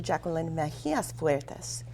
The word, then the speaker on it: Jackeline Mejias Fuertes: I've still been pronouncing it wrong, but it's Dr. Jackeline Mejias Fuertes.